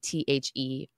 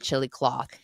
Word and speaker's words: Chillicothe: I think it's Chillicothe or Chillicothe. It's Chillicothe, but it's in Ohio. And every time we see it, every time Lloyd and I see it, we call it chili cloth. But that's not the right way to pronounce it.